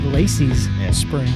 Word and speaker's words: Lacy's Spring: Say it correctly. Got to say Lacy's Spring. Both of them. Lacy Spring. Yeah, Lacy's got one spring.